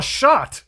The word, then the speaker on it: Chartres: She says, where do you want to go? And I'm like, Chartres. She's like, Chartres? And I'm like, Chartres. And she's like shrugging her shoulders. And then I finally just spell it out, these words. And she's like, oh, shot. I'm like, yes, shot.